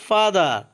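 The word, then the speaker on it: father: ড্যাড অথবা ফাদার অর্থ বাবা বা পিতা। এখানে ফাদারের আরের লাস্টে থাকার কারণে আরের উচ্চারণ হবে না।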